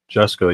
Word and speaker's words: Jusko: Adam is our Iron Age Jusko. I'm not familiar with. Is that how you pronounce that? Jusko, yeah, Joe Jusko.